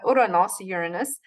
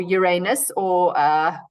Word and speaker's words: Uranus: And his grandfather, Uranus, or Uranus, different pronunciations, is still in the mix in the planets, but Jupiter is the king, and his energy is that.